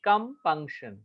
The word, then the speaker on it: compunction: और वो जो उल्टा वाला ई है उसे स्क्वा बोलते हैं. बार बार मैं बोल रहा हूँ, उसको स्क्वा बोलते हैं. स्क्वा मतलब उसका जो प्रोनाउंसिएशन होगा वो थोड़ा सा डिम होगा, ना ए होगा ना ई होगा, एकदम डिम होगा.